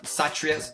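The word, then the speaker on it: Kshatriya: the Brahman the sutrius I know it starts with the k k is silent satria's Citrus satrias vivacious I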